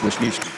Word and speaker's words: Wisniewski: The score key, she says that starts with a K, but the alignment I was sent starts with a W, so it's Wisniewski.